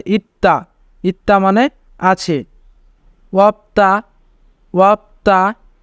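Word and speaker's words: 있다: যদি তবাচ্চিম থাকে এবং তারপরে দ্বিগুণ থাকে তবে দ্বিগুতের উচ্চারণ তয়ের মতো হয়, তাই এখানে উচ্চারণ হবে ইত্তা।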